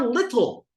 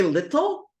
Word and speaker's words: little: But then think about the word little. Do you say little? No, you say little. Little. The ta is pronounced the da.